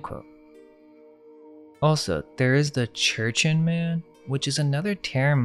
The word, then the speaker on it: Jurchen: The interesting thing about this is that the Manchus are descendants of the Jurchen people, which I believe is pronounced Churchin, but it's spelled with a J, which is interesting if we connect that to the Churchin man.